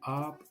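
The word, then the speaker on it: आप: vous, c'est bien prononcer le app. Le a, il est long. Quand il y a deux lettres A, ça veut dire que c'est long. Donc c'est app, c'est pas app.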